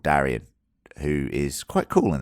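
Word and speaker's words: Daeron: think about it uh Darren Darien Darren Darren Darion Darian is the way I should pronounce it he is uh the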